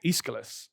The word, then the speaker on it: Aeschylus: So this guy has a name that's very difficult to pronounce. It's Aeschylus, and he was a playwright, and I love